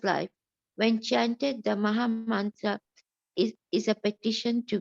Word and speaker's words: mantra: line of devotion maha mantra maha means um great and mantra means secret chant for deliverance of all mantras in the vedic vedas one is called the maha mantra or great rhymes with drama are sanskrit words hare